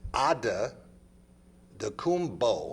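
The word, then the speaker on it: Antetokounmpo: this this week and the name is pronounced according to Yanis as odd the bow has got a B on the end not a P that's the I couldn't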